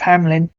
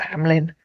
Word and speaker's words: Hamelin: I was a child the P Piper of Hamlin yes I know it's not pronounced like that in Germany but that's what we were taught at school as children in England on my new channel